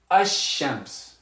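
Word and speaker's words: الشمس: to pronounce that land we're not going to say we're going to say hashems we're going to say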